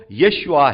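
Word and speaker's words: ישוע: उनका नाम लिखा है जीसस भले ही इंग्लिश में जीसस नहीं है हिब्रू भाषा में वो यशुआ है तो जब प्रभु यीशु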